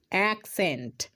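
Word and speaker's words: accent: উচ্চারণ শুধু কচ্ছি না এখানে একটা সি এর উচ্চারণ ক হচ্ছে আর একটা সি এর উচ্চারণ দন্তস হচ্ছে কেন হ্যাঁ একটু আগেই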